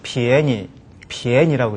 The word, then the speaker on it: 便宜: 편리하다 할 때는 变이라고 사성으로 발음이 되고요. 方便 이렇게요. 그 다음에 이제 이것이 싸다라든가 값이 싸다 할 때는 变을 읽지 않고 便이를 읽어서 便宜,便宜라고 읽죠.